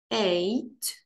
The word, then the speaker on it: eight: Two, eight. У цьому слові GH не читається. Тому й виходить eight.